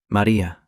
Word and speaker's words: Maria: He said the name in dialect, the way her grandmother used to say it, with the stress on the second syllable and the final vowel drawn out like a note held too long.